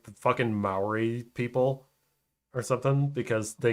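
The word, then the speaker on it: Māori: Maybe I'm saying the name wrong because I said Maui. Maori. No, I think. Yeah. Yeah, because I yeah, think no. Maui, which is in Hawaii. It's Maori. From New Zealand.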